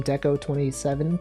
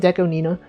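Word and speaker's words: DECO*27: Remember when Deco Deon Nina also people call him Deco 27, but he's Do you know it's pronounced Deco Nina?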